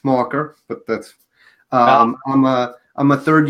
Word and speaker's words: Maher: So my name's hard to pronounce, the last name. It's Mocker, but that's...